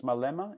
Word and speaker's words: Malema: and this was by Julius Malema is that how I pronounce it yes that's correct now that guy is